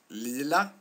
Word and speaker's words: lila: Lea and Peter pet what you see and what you hear is that uh in the Lea Lea example there are two l which makes uh Lila pronounced the way it's pronounced with a short vowel uh this these words